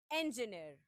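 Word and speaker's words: engineer: अ लॉट of people again. इंजीनियर। इंजीनियरिंग। इंजीनियर। इट is wrong. It's इंजीनियर। Despite the spelling E एन जी आई N double E आर। The pronunciation is इंजीनियर। इंजीनियर। Repeat after me. इट्स इंजीनियर। इट्स नॉट इंजीनियर ओर इंजीनियर। It's simply इंजीनियर। Now what is इंजीनियर means?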